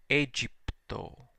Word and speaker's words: Aegypto: But the AE, the diphthong that in restored pronunciation was I, is now pronounced E, Egypto.